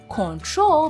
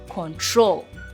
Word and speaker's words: control: So as you can see it's not control but it's control. So basically it has the stress on the second syllable of the verb.